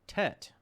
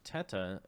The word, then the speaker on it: Tete: Michael says, haha, it's pronounced Tet, and it's Italian. You're wrong. My name was Teta, got butchered to Tete and Ellis, or at Ellis Island 75 years ago. So it's just pronounced Tet.